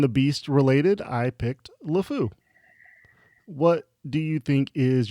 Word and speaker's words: LeFou: if y'all knew but lefou is pronounced like the french word for or the french phrase the idiot so i think he's